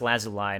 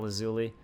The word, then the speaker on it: Lazuli: I think it's actually pronounced Lazuli, not Lazuli. Lazuli Glintstone Crown.